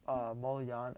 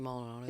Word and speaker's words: Maldonado: He's like Martin Molian. How do you say his name? The catcher. Marty Maldonado.